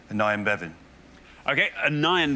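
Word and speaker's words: Aneurin: I am Bevin okay anion Bevin sometimes pronounced a neuron Bevin says Jeff let's see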